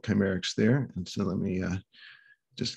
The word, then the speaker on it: Kcymaerxthaere: It's Kcymaerxthaere. And it comes from the cognate word chimera, which means the true physicality of the planet or universe.